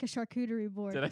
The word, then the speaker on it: charcuterie: it is just like a charcuterie board.